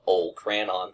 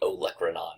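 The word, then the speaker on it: olecranon: the elron process uh I still have a lot ofch in me so sometimes I call it the old cranon process but if you listen to APR in their pronunciation they say oanon so we're going to go with that and this is going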